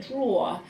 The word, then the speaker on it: drawer: clothes in a drawer it's quite a tricky one to say because that or and that er at the end are very close together but a draw so it's spelt different than just draw because that's what just without the er sound but this is a